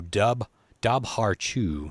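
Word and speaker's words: dobhar-chú: the tombstone the doughbar how do you spell this it's d-o-b-h-r c-h-u so dub dab har-choo is how it's spelled look well i bet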